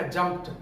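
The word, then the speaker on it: jumped: अगर voiceless sound का कोई लेटर आ रहा है तो एडी का साउंड क्या हो जाता है, टी हो जाता है। जैसे कि आपने देखा जंप्ड, जंप्ड उसका एक एग्जांपल था,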